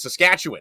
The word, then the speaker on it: Saskatchewan: As I hammer on fellow broadcasters all the time, it is Saskatchewan. It's like we're winning, which hasn't been the tradition of the Rough Riders, but that's how you say it. But, uh, no, thrilled to be back. I so excited for tonight. Saskatchewan win. Saskatchewan. Yeah. Okay. Saskatchewan. Okay. It's a win, not a one.